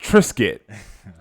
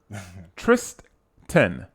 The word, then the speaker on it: Tristan: You said it like Trisket. I'm not with y'all, brother. Tristan. Okay. Tristan. Okay. You're saying Tristan.